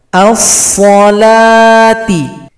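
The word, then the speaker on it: الصلاة: As-salati. As-salati. Jadi huruf waw tidak dibaca, diabaikan saja. Dia punya fungsi di dalam penulisan, tapi dalam bacaan dia tidak dibaca.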